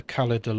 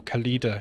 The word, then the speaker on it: Khalida: I did read into the Khalida law. Or Khalida, she just said. I just realised I've been saying her name wrong.